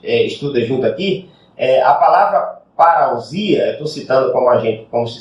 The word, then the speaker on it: parousia: A palavra vinda ali é traduzido para o português, é vertido como, a palavra lá em grego é parousia, né? A pronúncia seria parúcia, né?